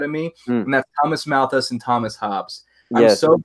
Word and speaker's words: Malthus: Mathis? How do you say it? Malthus.